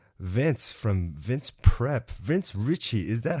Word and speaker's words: Ricci: name Richie or Ricky Richie yeah it's a there was an Italian in my family a long time ago so that's an Italian name and that's how you say it yep ok nice Richie